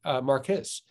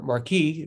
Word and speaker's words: Marquis: example is the philosopher don marquez or marquis depending how he pronounced his name but but he he